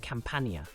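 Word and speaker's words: campaña: to the letter N this word would be pronounced campia which means campaign the DS is a mark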